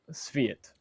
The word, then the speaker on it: Sviat: So Sviat. Like the car, but Sv.